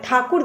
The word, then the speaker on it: ठाकुर: जमींदारों को उस समय ठाकुर ने कहा जाता था लेकिन अंग्रेज है ठाकुर दास को अपनी तरह से उच्चारण करके इसका नाम बदल दिया टैगोर यह लोग कलकत्ता में एक